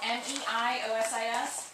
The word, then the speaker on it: meiosis: to make me remember it's spelled a little bit differently than it looks it's spelled m-e-i-o-s-i-s but it's pronounced my meiosis is what my parents